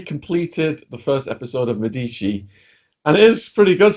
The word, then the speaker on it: Medici: Uhtred, son of Uhtred, and now I've moved on to Medici. That's how it's pronounced.